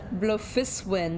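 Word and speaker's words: Bloefhiswyn: Blufiswin, that's how you pronounce her last name.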